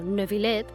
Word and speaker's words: Neuvillette: a nada especialmente importante nebilet que debería ser pronunciado nebilet puede proceder de dos